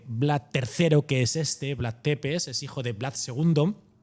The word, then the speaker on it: Țepeș: hay que decir que la pronunciación sería Vlad Tepes, como si terminase en SH, ¿no?